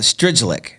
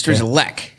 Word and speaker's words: Strygulec: I would call it Strygulec, but it's Strygulec.